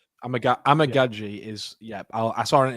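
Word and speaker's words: Amegadjie: to thank Mitch for this because I've been pronouncing it wrong for so long it's Kieran amagi the tackle from Yale he was sat there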